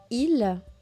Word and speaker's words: ils: Et ce qui est intéressant de noter, c'est tous les « ils » que je prononce comme « i ».